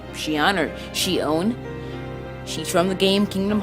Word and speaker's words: Xion: of course in a min Xian and it's pronounced she honored she owned she's from the game kingdom hearts and the